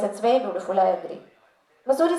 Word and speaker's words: Mussoorie: और मसूरी का जो नाम है ये हम गलत प्रोनाउंस करते हैं. ये गलत ही, this has stuck now. The real name of मसूरी is actually Mansuri. That's the correct pronunciation because it comes from Mansura, which is a jhad, which is a shrub that grows in Mussoorie.